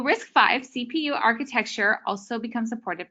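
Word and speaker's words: RISC-V: the open source community am I saying it wrong yeah risk v risk v oh there we go all right well risk 5 CPU architecture also become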